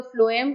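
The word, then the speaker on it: phloem: एफ फॉर फ्लोएम, टी से start होती है स्पेलिंग, तो बोलने में एफ आता ना, तो इसलिए. ठीक है, अगर आपको कहीं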